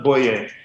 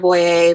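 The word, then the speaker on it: Boyrie: say your last name uh it's it's boy it's it's French it's kind of weird yes sir how do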